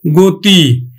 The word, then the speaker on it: গতি: গতি, তাহলে আমরা উচ্চারণ করব গয়কার তয় রস্বই, গতি।